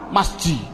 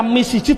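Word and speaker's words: مسجد: Adapun depan ada tulisan mim sim jim dal, bacanya apa? Masjid. Mengapa kok dibaca masjid? Buat dibaca misjid saja.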